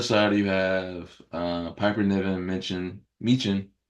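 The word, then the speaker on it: Michin: On the other side, you have Piper Niven, Meechin is how you say it, Meechin, Yeah, and me too.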